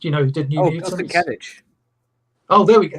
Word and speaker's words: Sienkiewicz: I was like, Bill Seikenditch? The artist, who did New Mutants? Bill Sienkiewicz. Oh, there we go. How do you pronounce it? Sienkiewicz.